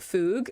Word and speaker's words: FUG: and people are like that's technically not the pronunciation like I know but I'm also an English speaker and I do not trust myself to enunciate properly like I know it it Rhymes more with bug um but I do